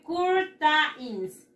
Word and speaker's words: curtains: Se escribe curtains, curtains, qué gracioso, mis. No es gracioso, chicos. Se pronuncia así. Curtains. ¿Cómo, Miss? Again, again, don't worry, again. Curtains. Como una O.